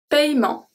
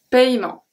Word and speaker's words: paiement: Un paiement. Un paiement. Un remerciement. Un remerciement. Une promenade. Promenade. Une promenade. A walk. Okay, so did you hear that I did not pronounce the E at all?